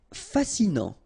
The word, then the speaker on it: fascinant: Fascinant, final T not pronounced, so you get this A-N, non, fascinant.